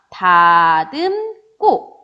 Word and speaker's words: 다듬고: 자, 다듬다가 기본형이니까 어간이 뭘로 끝났냐면 미음으로 끝났어요. 그리고 그 뒤에 뭐가 연결됐냐면 기역이 연결됐죠. 그래서 어떻게 발음되냐면 다듬고 요렇게 발음이 된다라는 겁니다.